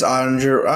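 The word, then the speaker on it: Oettinger: It's Ottinger. I'm looking at it.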